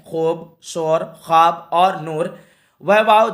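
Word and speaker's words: خواب: ख्वाब नहीं होता है, ख्वाब होता है असल में लफ्ज़, ठीक है। तो ऑप्शन नंबर सी बिल्कुल परफेक्ट होगा। वाव का जो है प्रोनाउंसिएशन, तलफ़ुज़, उच्चारण नहीं हो रहा है, ठीक है।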